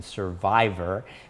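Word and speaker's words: Cervivor: she joined the organization survivor and i need to spell that for you because survivor is spelled c-e-r-v-i-v-o-r and it's a combination of the word cervix and survivor so survivor is a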